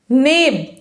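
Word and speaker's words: knave: भी chair full होगा नेब यहां के हमारा साइलेंट होगा लिखा आएगा के एन ए भी ई बट पढ़ाए का नेब नेब मींस होता है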